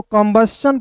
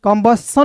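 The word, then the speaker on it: combustion: एन क्या पढ़ेंगे दोस्तों कंबस्शन पढ़ते हैं यहां पे सन नहीं कंबसन नहीं कंबस्शन पढ़ते हैं इसका हिंदी होता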